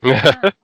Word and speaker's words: seitan: It's not Satan. It's like Seitan.